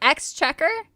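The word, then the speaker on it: Exchequer: It's like ex-checker. It's the treasury for the British Empire.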